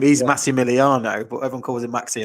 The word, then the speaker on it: Massimiliano: Now, the problem with Maximiliano is that in the Italian alphabet, there's no X. So you would pronounce it Maximiliano, but it's spelled Massi. So it's double S.